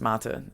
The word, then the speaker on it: Mata: But my brother doesn't like his name because my brother's name is it's spelt mate, which is like the term of endearment in Australia. But it's Croatian, it's Mata, and he doesn't like his name.